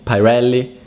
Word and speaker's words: Pirelli: Pirelli.